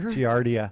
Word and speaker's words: giardia: her story about how she had, was it pronounced Giardia? Beaver fever. Yeah. Yep. That's what we call it. Beaver fever. Giardia.